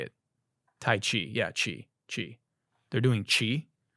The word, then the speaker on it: tai chi: Tai chi.